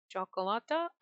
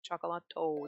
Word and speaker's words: cioccolato: I'm assuming it's supposed to be chocolate, but it's a cioccolata? Can't pronounce it. Cioccolato.